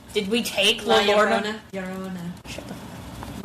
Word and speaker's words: Llorona: Isn't that just La Lorna? Did we take La Lorna? Llorona. Shut the fuck up. Llorona. I'm just saying, that's the pronunciation.